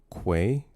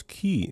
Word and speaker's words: quay: It's pronounced quay. Uh, say it with me now with a Q. Quay. Quay. Mhm. Quay. Not. I don't know who says key.